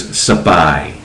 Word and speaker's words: Spy: The way the Thais pronounce it is Sapai, Sapai.